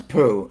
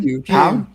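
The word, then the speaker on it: Pugh: Something about Florence poo like she's poo pow. Whatever. What's How do you pronounce her last name? Pew. Pew. I said poo.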